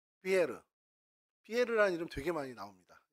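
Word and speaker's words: Pierre: 있을 거 아니에요 피터 피터가 영어식 발음이며 프랑스 발음으로는 피에르 피에라 이름 되게 많이 나옵니다 여러분 프랑스 이렇게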